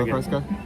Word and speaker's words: Isla Fresca: Isla Fresca? Isla. Isla. Isla Fresca? Isla. Isla? Is not Isla. Isla. Isla. It's It's It's Spanish for island. Isla. The fresh island.